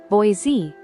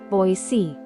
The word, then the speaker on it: Boise: if you've been saying Boise you're actually wrong the locals pronounce it boy C that s is soft making the whole name sound much smoother it's boy c not boy Z this one is a